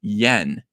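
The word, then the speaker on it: Nguyen: Keith champagne and Tom yen this is believe it or not all of this you can just forget these three letters it's pronounced yen so what is this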